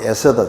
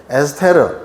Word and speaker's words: 에스더: 근데 에스더가 이제 주인공이 된 책이 바로 에스더 책입니다. 에스더.이 이 본토 발음을 영어 발음으로 에스테르 에스테르라고 하는데 밝게 빛나는 별 즉 별이라는 뜻입니다.